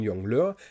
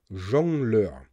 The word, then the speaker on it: jongleur: hier ein fabelhafter jongleur was ist ein jungen löhr das ist auf deutsch ein jongleur auf niederländisch sagt man ja das heißt rudi hat das wort jongleur nicht undeutlich ausgesprochen sondern einfach nur falsch niederländische einfluss grundsätzlich muss